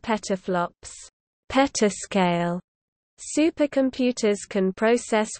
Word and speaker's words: PFLOPS: 10-12 flops, pronounced teraflops, or peta, combined into the shorthand PFLOPS. 10-15 flops, pronounced petaflops, petascale.